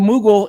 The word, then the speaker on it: Moogle: Burn says, had to Google Moogle. It rhymes.